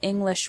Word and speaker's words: English: already know that individual English words have stress for example the word English has the stress on the first syllable in the word improve